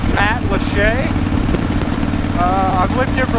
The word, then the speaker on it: Matlacha: This part of Pine Island is called Matlacha. I've lived here for like 7 years. It took me 6 years to figure out how to pronounce the name of this area, but it is pronounced Matlacha.